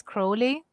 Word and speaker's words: Crowley: tell you that um apparently the right pronunciation is crowley because yeah because he wrote a poem where his name would rhyme with holly ah so cruelly holy